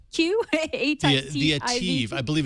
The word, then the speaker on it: ATIV: And in maybe kind of weirder news, they announced and tell me if I'm pronouncing this correctly, the ATIV Q. The Ativ.